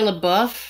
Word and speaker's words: LaBeouf: is this why Shia how do you say his last name Shia LaBeouf Shia LaBeouf I always want to say booth I don't know why Shia LaBeouf is acting